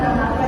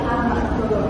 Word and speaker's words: amarga: tadi dengan India mungkin salah di membaca amarga ya bukan amarga tapi amargo. Oh, berarti A itu dibaca O ya, Bu.